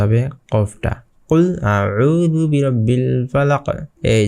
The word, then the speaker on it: فلق: কুল আউযু বিরাব্বিল ফালাক। এই যে এখানে দেখছেন যে এখানে একটা কলকলা হয়ে গিয়েছে, এখানে কলকলার হরফ চলে এসেছে। তো এখানে ফালাক একটু ধাক্কা দিয়ে পড়তে হবে।